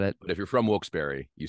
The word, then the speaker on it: Wilkes-Barre: northeast Pennsylvania um a little town outside of Wilkes-Barre would be like the next biggest town it